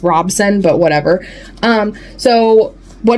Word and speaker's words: Robson: after that so yeah blood guard by CC Robinson I think I'm pronouncing it's Robson but whatever um so what do you guys